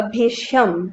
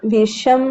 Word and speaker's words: Bhisham: तो कुछ भी ऑप्शन लिखा हो थोड़ा सा देख लेना, क्या भीष्म है या भीषम है। तो भीषम ही होगा। थोड़ा सा स्पेलिंग का एरर है इसमें, BHISHAM। ओके, HAM हो जाएगा, भीषम।